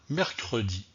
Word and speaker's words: mercredi: deuxième au revoir à mercredi au revoir à mercredi alors savez vous pourquoi je prononce le e dont le mot mercredi et je ne prononce pas le e donc le mot samedi dans cette leçon nous